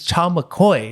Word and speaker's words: Cha McCoy: Next up, I have Miss Cha McCoy. Am I pronouncing that correctly?